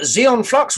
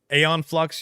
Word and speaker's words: Aeon Flux: with uh charlie's theron aeon flux you mean i sorry i own i'll pronounce the xeon flux there's no x in there it's a-e-o-n yeah yeah but eons